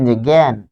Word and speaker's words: যজ্ঞ: কিন্তু যখন বলছেন যজ্ঞ, যজ্ঞ, তাহলে এখানে হচ্ছে যোগ গো, যোগ গো। তার মানে যখন বর্গীয় জ বর্গীয় জয়ের সাথে বসতেছে তখন আপনি উচ্চারণ পাচ্ছেন গ হসন্ত আর গ।